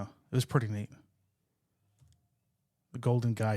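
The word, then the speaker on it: Golden Gai: mouth it's called the Golden guy but it's spelled g AI I don't know what guy it's not like the guy but it's this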